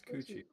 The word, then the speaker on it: Cucci: it's Coochie. It's like Gucci, but with C's.